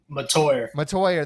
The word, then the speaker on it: Mettauer: Mettauer, there you go.